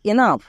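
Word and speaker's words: enough: মানে কাভ একই রকমভাবে ই এন O Yuji H এনাফ সো জি এইচ এর জন্য ফ বসাবো এবং তার আগে যদি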